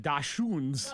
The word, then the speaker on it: dachshund: Say it one more time. Dachshund. Yeah. So DockSUND. That's how you could spell it.